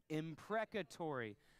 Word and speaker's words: imprecatory: loud a few times make sure we can pronounce it all right so on three we'll say it together 1 2 3 imprecatory okay second word exercise we're going to do